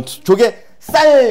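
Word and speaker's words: 조갯살: 된 소리로 발음 나는 경우에 조개 쌀 이렇게 발음 나는 거죠.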